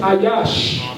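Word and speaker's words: איש: For those of us that speak Lashon Kodash, Ish is pronounced Ayash.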